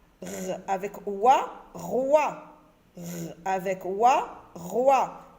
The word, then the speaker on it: roi: Avec oua, roi. OI nous donne le son wa, roi.